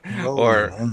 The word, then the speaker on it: Rowling: Rowling rather. I've been mispronouncing her name all this time. J.K. Rowling, Rolling.